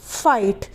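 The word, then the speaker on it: fight: या जिससे फाइट एफ आई जी हा टी फाइट तो यहां पर भी वही चीज है आई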